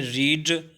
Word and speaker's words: read: अब देखें रीड, READ, रीड, इसको पैसिव वॉइस में यानी थर्ड फॉर्म में जब आप करेंगे तो इसको पढ़ा जाएगा रेड, स्पेलिंग सेम है मगर